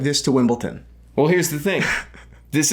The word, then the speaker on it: Wimbledon: I'd wear this I wear like this to Wimbledon well here's the thing this is gonna say by the way Christian said Wimbledon last video it's Wimbledon Wimbledon it's Wimbledon wimbled I'm just so glad